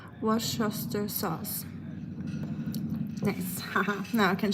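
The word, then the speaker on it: Worcestershire: It's pronounced wash sha sauce.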